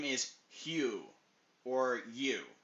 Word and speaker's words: Huu: in the swamp to use them to attack the guy's name is Hu or U it's pronounced U but it's spelled huu that's the guy's name